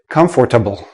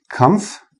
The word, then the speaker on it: comfortable: I've heard many students say, comfortable. But native speakers, we don't say this part. We don't say the or. We say comfortable. And notice the last sound is like a small, tiny little I in there.